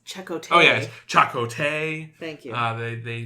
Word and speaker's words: Chakotay: his whole face excuse me it's chot yeah chakote thank you uh they they they say his